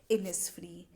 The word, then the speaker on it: Innisfree: और जो हमारा लास्ट वर्ड है जो कि आपको थोड़ा सा डिफ़िकल्ट लग रहा होगा, इसको हम प्रोनाउंस करते हैं एज इनिसफ्री।